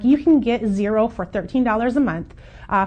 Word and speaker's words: Xero: fourth one I want to talk about is zero and zero is spelled x-e-r-o we do use zero a little